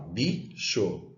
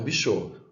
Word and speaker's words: bicho: é a sílaba tônica, então eu falo bicho e não bichô.